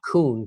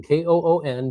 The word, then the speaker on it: Koon: Uh and it it is Scott Koon, K O O N, just like the animal but with a K, is how I uh is how I say it when when I'm introducing myself to people.